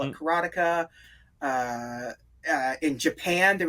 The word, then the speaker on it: Karateka: whatever it is he mechner says that some people call it karateka some people call it karateka uh uh in Japan